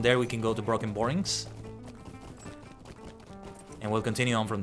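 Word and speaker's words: Brockenborings: my bad good day broken borings the pronunciation is not like broken right because it has the C in it it's broken borings oh and actually don't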